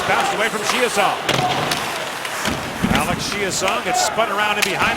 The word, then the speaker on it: Chiasson: Alex Chiasson gets spun around in behind the Nashville goal. He was Chiasson in Dallas, but has asked for the francophone pronunciation.